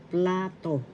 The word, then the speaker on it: plato: In Spanish, plato. Plato. Plato. First syllable pla, second syllable to. The accent is in the first syllable, plato.